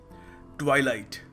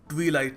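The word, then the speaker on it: twilight: ट्वाईलाइट ट्वाईलाइट मेरे भाइयों और बहनों यह ट्वीलाइट नहीं है। सो कभी इसको ट्वलाइट मत कहना। इट इज ट्वाईलाइट।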